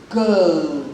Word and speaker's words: girl: be when we begin to abide the correct pronunciations they will sing right now talks about the the the the word g-i-r-n is girl not gay go so these are the The